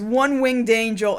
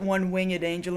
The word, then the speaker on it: One-Winged Angel: his finishing move is One-Winged Angel he pronounces It One Wing at Angel and I guess a lot of people do I do not anyway he's wrong I'm